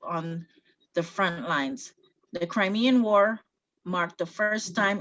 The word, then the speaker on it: Crimean: The Crimean War, that's how you pronounce it, the Crimean War Crimean